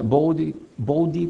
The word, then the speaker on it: Bode: el diagrama de bode que en inglés se dice b plot y se pronuncia Body plot le dicen Body pl